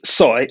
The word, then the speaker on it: Sooy: well uh okay first my name is soy s-o-o-y seventy percent of people don't know how to pronounce it correctly okay the second thing